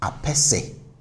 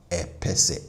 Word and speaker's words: apese: So we pronounce this as apese, apese, and not epese. No, it's apese, apese.